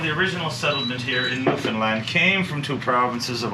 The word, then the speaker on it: Newfoundland: is a beer and it's pronounced Newfoundland not Newfoundland or New Finland Newfoundland is the oldest